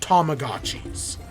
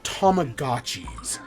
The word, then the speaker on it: Tamagotchi: I swear those were called Tamagotchis. But then in the Direct, they call it Tamagotchis. Maybe that's, like, the correct Japanese pronunciation, and we've all just been using an anglicized version, which is probably what that is.